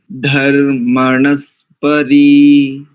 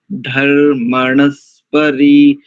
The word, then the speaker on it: धर्मणस्परि: ना तो किसी भी शब्द का अथवा किसी भी अक्षर का जो पाठ है वो एक ही श्रुति से होना चाहिए। इसीलिए हमने धर्मणस्परी को कैसे तोड़ा था? धर्मणस्परी, धर्मणस्परी। कई लोग क्या करते हैं, जहां पर धर्म ऐसा शब्द आ जाता है, यानी इस प्रकार के शब्द आते हैं तो वहां पर शीघ्रता कर देते हैं ना।